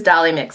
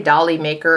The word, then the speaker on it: Dolly Mix: One of my favorites, bright, beautiful for spring, is Dolly Mix. I always say Dolly Maker or something like that. Every time I do a video and I mention this blush, I say it wrong.